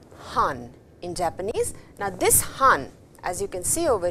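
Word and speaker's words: 半: Now, as you can see on your screens, this is written han. It is pronounced as han and han means half actually, half.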